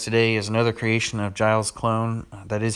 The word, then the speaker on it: GilesClone: The deck that I've got for you guys today is another creation of GilesClone.